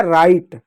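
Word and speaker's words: write: डब्ल्यू आर से सिर्फ र होगा। आर आर से र होगा। डब्ल्यू साइलेंट होगा। आई से होगा आई ई। आई से होगा आई। टी से होगा ट। ई साइलेंट होगा। हो जाएगा राइट।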